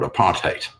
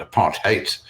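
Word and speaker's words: apartheid: there was complete separation was called apartate that's the pronunciation of it apart hate the word hate of course sounds like you know what it is apartness is what it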